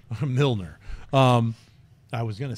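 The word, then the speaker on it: Mjölnir: Mjolnir. Mjolnir.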